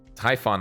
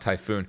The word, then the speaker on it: Typhon: and satisfied with that Typhon not typhoon wait is it pronounced like Typhon really I thought Ben just